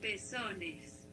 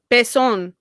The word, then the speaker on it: pezón: Spanish, you would say pezones. Pezones. Okay. Pezón.